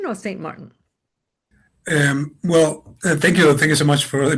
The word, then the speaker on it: Saint-Martin: But I used to, how do you say, to Spanish my name that is French, so I say Pierre Saint Martin. That's the way that I use it.